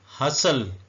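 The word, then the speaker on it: hustle: फासट का मतलब बांध हसल टी भी साइलेंट है ई भी साइलेंट है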